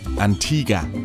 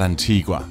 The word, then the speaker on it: Antigua: again that was before I learned that it's pronounced Antigua and not Antigua which is what you would think when you